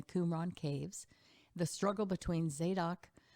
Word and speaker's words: Zadok: caves the struggle between zadok i like to say zadok but i think it's the doc if we really pronounce it correctly and abiathar and what